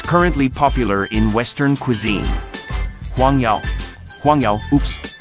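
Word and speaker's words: 黄油: Huangyao. Huangyao, oops. It's butter. I'm using butter in Huangyao. That's the way to pronounce them.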